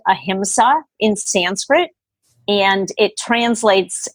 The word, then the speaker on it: ahimsa: of all the ethical precepts of yoga it's pronounced ahimsa in sanskrit and it translates as non-violence so